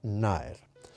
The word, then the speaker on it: Nájer: c6 defensa carocam de naer Por cierto naer se escribe náger pero esa J no se pronuncia es naer y ahora en lugar